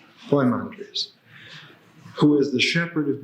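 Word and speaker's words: Poimandres: or many other ways the correct way to spell it is p o i m a n d r s po mandre po mandre who is The Shepherd of men who is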